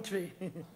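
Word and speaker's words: Twi: tree yeah man it spelled tww but it pronounced tree I one good language and make me tell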